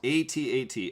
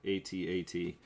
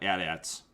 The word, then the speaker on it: AT-AT: go forward oh jax just is saying it's pronounced a-t-a-t actually it is jax's it is pronounced a-t-a-t i just like to call them at-ats because every time you say at one guy